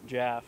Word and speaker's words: Jaff: And the nurse pronounced it Jaff because she's German, so she thought it was an A.